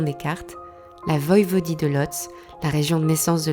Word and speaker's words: Łódź: Ça se prononce Łódź en polonais.